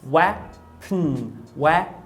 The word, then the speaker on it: weapon: Então ele não fala weapon. Eu percebo que vai direto do P para o N. Em inglês é possível que o N forme o núcleo de uma sílaba, ou seja, ele seja silábico. Então, ó, weapon. Então é como se essa palavra, que parece ter duas sílabas, tivesse somente uma sílaba. Então olha só, weapon.